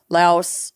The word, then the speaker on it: Laos: uh Goa Vietnam Okinawa Laos La is it Laos or Laos Laos La I think we pronounce it LA but people in Southeast Asia pronounce it Lao Lao okay Thailand Cambodia